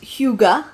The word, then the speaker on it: hygge: So apparently it's a Danish word pronounced hygge, Disagree. which I would not have pronounced it like that. Hygie.